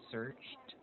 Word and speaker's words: searched: The sound of ed should be the t sound.